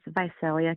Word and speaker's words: Visalia: Yeah, it's Vicelia, California.